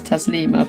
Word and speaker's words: Taslima: Like, obviously people call me, but it's Taslima, but a lot of people can't say Taslima for some reason. I'm not sure. It's only 3 syllables.